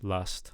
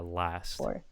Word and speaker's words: last: ate three and then once again with last I'm kind of hearing like last last last time lust lust but I want a a last the last time he